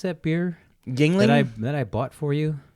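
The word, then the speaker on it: Yuengling: So you've got how do you pronounce that beer? Yingling? That I bought for you? Yingling.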